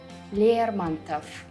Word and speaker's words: Лермонтов: All the Russian male surnames that end with ov will also be pronounced with f at the end. Чехов, Булгаков, Лермонтов.